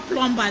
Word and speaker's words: plumber: It's not plumber. The B is silent.